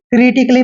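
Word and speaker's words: critically: क्रिटिकली पढ़ना है क्रिटिकली क्योंकि यहां पर ए के बाद डबल एल वाई आया है जहां पर ए के बाद डबल एल वाई आता है वहां पर ए का उच्चारण हमने नहीं करना है इसलिए हमने इसको क्रिटिकली पढ़ना है क्लियर जैसे आर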